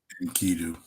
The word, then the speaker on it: Enkidu: Um, Inkidu, Inkidu, right?